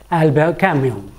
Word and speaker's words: Albert Camus: His name is pronounced as Albert Camus.